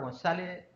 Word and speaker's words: González: Así que en la sesión de hoy nos acompaña el doctor González. González, estoy pronunciando como chileno, olvidando tu apellido. Después lo oirás tú como se se dice en Madrid.